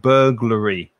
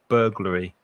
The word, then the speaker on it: burglary: e r or and burglary burglary stress the first syllable burglary so we've been